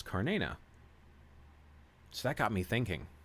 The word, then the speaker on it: Cernunnos: And apparently Alexander's mentions in this book that it was said you pronounce his name not as Cernunnos, like many of us say, or Cernunnos, as some have said, but it's Carnena.